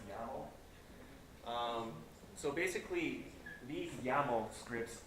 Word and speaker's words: YAML: It's pronounced YAML.